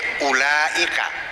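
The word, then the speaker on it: أولئك: Tulisannya alif, wawu, betul, lam, hamzah, kaf. Kalau pakai ilmu nahwu bacanya ulaika, betul nggak? Kan ada wawunya, tapi ternyata yang ada wawunya dibaca pendek, yang ada alifnya dibaca panjang.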